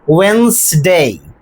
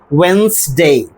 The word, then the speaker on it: Wednesday: pronunciation of this word we have to drop the consonant d. Not only that we have to drop another vowel and that is e. Now we will get the correct pronunciation that is Wednesday.